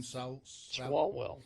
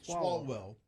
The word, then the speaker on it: Swalwell: Swalwell. Swalwell.